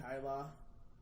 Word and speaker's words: Kay: on Twitter I believe I'm Kyla that because b r n duu n k y l a because that's the only way I will ever get people to pronounce my last name right spell it phonetically uh I'm on Twitter